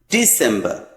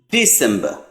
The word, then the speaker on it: December: And the last one is December. No R at the end. December.